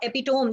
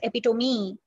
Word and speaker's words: epitome: This is, yes, this is not epitome. This is pronounced as epitome.